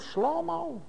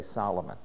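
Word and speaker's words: שלמה: Melechem Shlomo wrote this. See, we mispronounce it. We say Solomon. No, it's Shlomo. Say Shlomo.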